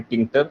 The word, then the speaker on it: Tkinter: तो आज एक लाइब्रेरी हमारे पास है जिसका नाम है टिंकर। आप यहाँ पर देख रहे होंगे ब्लू से लिखा हुआ है, TKINTER, ये इसकी स्पेलिंग है।